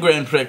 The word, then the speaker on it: Grand Prix: it I want two grand prix they look hot awesome yep and my mom was like it's Grand Prix and I'm like there's an X though and she's like you don't pronounce the X but i might get